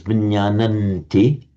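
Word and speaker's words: viññāṇanti: You would still pronounce it as vinyananti, but you can write it either way.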